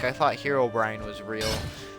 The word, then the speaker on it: Herobrine: or if you're um little kids that don't know how to pronounce it they say Herobrin not just little kids I've heard other people say it like that um sorry that's not a it's not how English works if we're going based